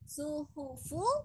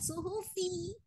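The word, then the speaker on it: الصُّحُفُ: Suhufu bukan suhufi. Suhufu. Wa suhufu.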